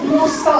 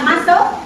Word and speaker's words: muscle: Muscle itu musle bacanya. Tulisannya musle pain. Bacanya musel pain.